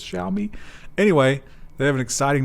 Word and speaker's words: Xiaomi: worth that much yeah they always correct our uh pronunciation of this xiaomi xiaomi xiaomi tell me i think it's what shall we we usually use as more of a z and we're corrected for that so i think it's